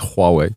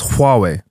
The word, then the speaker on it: Huawei: Like, look, man, look at you lot all getting Huawei phones now.